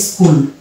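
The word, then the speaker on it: school: সেখানে আমরা পেয়ে যাব স্কুল স্কুল এই যে শব্দটাতে এস দন্তস পাচ্ছি আর সি আমরা জানি ক কিন্তু এইচ এর উচ্চারণ এখানে আসছে না কারণ আমরা জানি সি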